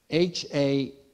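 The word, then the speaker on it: הטבע: So there's a word in Hebrew, and I don't know if you can see this down here, but I'll spell it for you. H-A-T-E-V-A, hateva.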